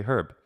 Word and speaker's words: herb: In American English we say herb, in British English they say herb.